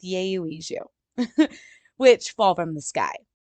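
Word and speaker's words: 여의주: Yayo Uju or Yayo Iju. Yayo Iju. We're going with Yayo Iju, which fall from the sky.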